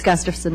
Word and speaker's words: Gustafson: the Honorable Gustafson. Did I pronounce it right? It's Gustafson, Mr. Chairman. Gustafson? Yes. Okay, close.